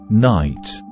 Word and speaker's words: night: the first way to spell the long I sound is with I plus silent g h as in night compare short ey with